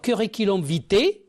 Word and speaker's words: curriculum vitae: vous ne connaissez pas alors curiculom vit curiculom vit ou CV c'est un nom masculin